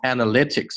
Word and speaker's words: analytics: build an。OK，will build an ecosystem that 这个 T 弱化，不要读成 that 是错的。That capitalizes on the promise of 看到了吗？前后连在一起。On the promise of analytics 这个单词注意了，重音在后面。Analytics and connectivity 这里是 promise of analytics and